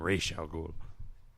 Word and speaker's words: Ra's al Ghul: pronouncing it Yeah. right, by the way. No, I'm Ra's al Ghul.